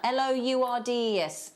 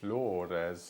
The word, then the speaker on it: Lourdes: How would you pronounce that? Lourdes. Lourdes. Lourdes, that's gorgeous.